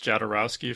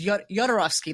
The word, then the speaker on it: Jodorowsky: Yeah, because the first one I heard was Jodorowsky, like Eastern European pronunciation of the J, and I was like, oh, is that what it is?